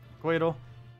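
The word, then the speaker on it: Couatl: It's pronounced like Coatl.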